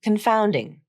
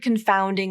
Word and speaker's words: confounding: IPA of the word confounding there are two important things I want to point out here first the first syllable is unstressed it's spelled c n